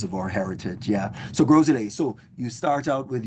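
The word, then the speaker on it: Gros Islet: You can say Friday night street party or you say Grolet, which is G R O S.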